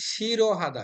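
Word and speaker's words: 싫어하다: জি স্যার হিউতের নিয়মে আমরা বলি তাহলে হচ্ছে শিরো হাদা শিরো হাদা মানে অপছন্দ করা মনে রাখবেন এইটা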